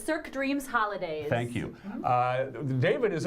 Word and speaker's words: Cirque Dreams: I'm going to blow the pronunciation again, so help me out. It's okay. It's Cirque Dreams Holidays.